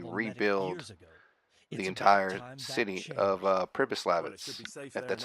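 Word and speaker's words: Přibyslavice: plans to basically rebuild the entire city of purpose Labatt's that's how you pronounce it so yeah so first you want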